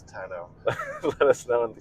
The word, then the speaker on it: tonneau: Okay, everyone in the comments, we've been arguing about how to pronounce it. Is it tonneau or is it tonneau? It's tonneau.